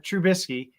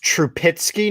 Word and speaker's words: Trubisky: happy about his steelers adding uh trubisky it's pronounced true pitsky now trupitsky your pitsky so